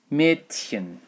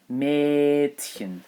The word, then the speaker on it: Mädchen: Another an example of this pronunciation in German is Mädchen. Mädchen. Now the D is pronounced as a T here, but Mädchen. So if I wanted to spell this word, Mädchen, I would spell it like this.